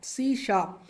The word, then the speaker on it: C#: लगा रहे होते हैं इसको प्रोनाउंस करते हैं शाप सी शप ये एक मॉडर्न लैंग्वेज